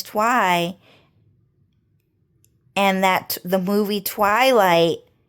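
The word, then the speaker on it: Thoai: So his Vietnamese name is Twi and that the movie Twilight just simply reminds them of Twi if you guys get it.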